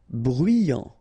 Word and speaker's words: bruyant: Bruyant. Final T not pronounced.